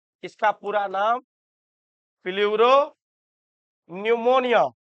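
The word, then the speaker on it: pneumonia: PPLO PPLO का मतलब होता है इसका पूरा नाम प्ल्यूरो निमोनिया निमोनिया पी से शुरू होता है। पी साइलेंट रहता है।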